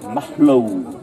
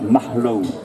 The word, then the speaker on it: Malo: aller au 5e siècle, on disait Mahlou. Et en français, ça donnait Maclou. À Saint-Malo, ça se prononçait Mahlou aussi.